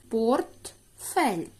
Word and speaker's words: портфель: голосний л приголосний м'який портфель слово двоскладове наголос падає на перший чи на другий склад вірно на другий склад